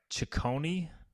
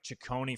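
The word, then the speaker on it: Ciccone: Chonei I believe an Italian last name so it's C I CC O N E I'll try to get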